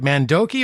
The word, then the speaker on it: Mandoki: is leslie mandoki and did i say it right mandoki or manduki i mean you know i just i don't know why nandoki all right i got it right the first time why do i even